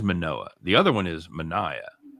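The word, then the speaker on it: Manoah: murdered by that time you pronounce it right it is manoa the other one is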